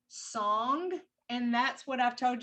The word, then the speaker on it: song: And that's called a song joint, S-O-N-G, song.